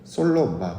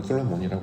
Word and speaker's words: 솔로몬: 사용하지 않고 여디아가 아니라 그는 솔로마 원래 발음은 솔로마예요. 우리 부활은 모르 솔로몬이라고 하지만 솔로마 샬롬이란 뜻이었습니다.